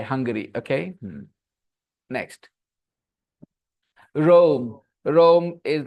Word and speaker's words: Hungary: So both the words are pronounced the same way. Hungary.